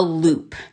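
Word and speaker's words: loupe: Um, this is not necessarily going to help you make jewelry, but this is called a loop, and it's spelled L O U P E.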